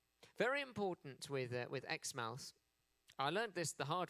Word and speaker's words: Exmouth: Um unlike everywhere else in Australia where the vowel sounds are shortened, Xmouth decided not to shorten their vowel sounds.